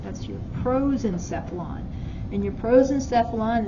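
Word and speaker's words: prosencephalon: Proenphylon. Can you spell that again? Mhm. P R O S E N C E P H A L O N. That's your pros and sephflon.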